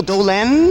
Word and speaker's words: Dolenz: we're speaking to Mr Mickey Mickey do do Dolan that's close yeah Mickey is that how is that how you pronounce it yes Dolan yeah of the of now of Solo solo